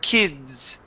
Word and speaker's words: kids: your throat ok because that d is a voiced sound ok sounds a little